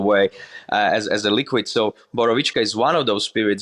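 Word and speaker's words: Borovička: I've had that drink, is it Borovichka?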